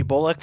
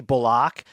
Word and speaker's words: Bullock: Or at least I called him Reggie Bullock for like a decade, and then he told the media casually like it's actually Bullock.